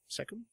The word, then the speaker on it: cecum: Cecum? It's spelled C-E-C-U-M, so cecum.